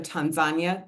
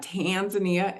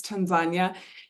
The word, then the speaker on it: Tanzania: Our neighbors to the south are Tanzania. That's how we pronounce it in this part of the world, not Tanzania, it's Tanzania, Uganda, Sudan, Ethiopia, and Somalia.